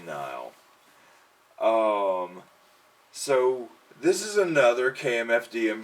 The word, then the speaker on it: Nihil: Nile, how do you pronounce this? I've always said Nil. I pronounce it as Nile. Nile? Like, what is this supposed to be, like nihilistic?